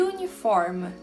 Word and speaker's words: uniform: Ambos começam com a letra U, mas olha como o som é diferente. Eu falo umbrella e uniform, né?